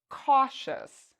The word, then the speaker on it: cautious: about the next word cautious cautious do you hear e us or do you hear chess cautious the answer is again the second we pronounce the i o u s like shus all right let's look